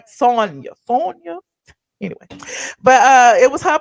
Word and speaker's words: Sanya: I always get her name wrong because I think about Tanya, but I know it's Sonya.